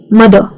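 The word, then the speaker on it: mother: तो रूल ये है कि अगर ये आर का स्पेलिंग किसी वोवेल के बाद आता है और उसके बाद कोई और साउंड है ही नहीं तो फिर वो हो जाता है साइलेंट। जैसे कि मदर, ब्रदर, कार, फॉर।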